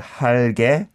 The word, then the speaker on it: 할게: Then you need to pronounce this 기억 as if it is a double 기억.